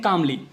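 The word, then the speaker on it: calmly: है कामवाली कम है यहां पर ल साइलेंट राहत है इसको हम कहते हैं कमली कमली कर तोता है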